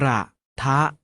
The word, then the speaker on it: กระทะ: เลย ครับ กราบ อจก กระทะ ออก เสียง ว่า กระทะ มา ออก เสียง ทำ